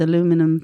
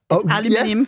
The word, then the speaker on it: aluminium: She also does it with aluminum foil balls. I said it right. Aluminum is the way they say it, isn't it? Aluminium.